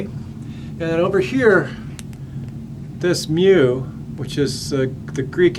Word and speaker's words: mu: m for mean so mu for me and then the way you pronounce the letter is mu like a cat like a cat would make a sound mu or how we